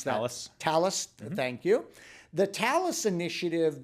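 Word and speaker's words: Talos: But what Cisco has done is they've really with this I don't know how they pronounce that. Talis.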